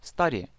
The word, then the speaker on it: study: there она остановилась там study изучать то есть хотя мы говорим Student Да Student звук you здесь а краткий ста как в слове But Да но или слове Cut резать изучать study so Let's study English